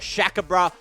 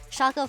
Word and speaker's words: Shaka: It is Weizhe for the top lane, Shaka for the jungle, Nuli as the mid laner.